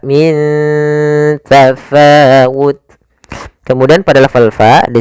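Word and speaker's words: مِنْ تَفَاوُتٍ: Cara membacanya, nunnya disamarkan ke huruf ta, bukan dibaca ming tafawut, tapi dia min, ya ikhfa-nya langsung ke ta, min tafawut.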